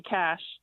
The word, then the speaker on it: cache: It's usually just in the tools of the browser, but also we say cache, not cache. Wait, there's an E on the end. Yeah, I know. The the E is silent.